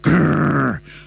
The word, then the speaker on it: GRRR!: How do you pronounce it, Darren? I pronounce it Grrr. I actually have. I pronounce it Grrr. Yeah. This is it. So I think that, you can't just go grr.